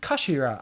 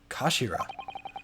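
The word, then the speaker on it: 頭: end of the hilt it's written as head in japanese but it's pronounced as kashira i believe kashira so mr ahsoki's word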